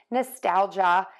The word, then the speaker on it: nostalgia: Our word is nostalgia, which is being sentimental and longing for the past. We have three beats. Nostalgia, nostalgia, nostalgia, nostalgia, nostalgia.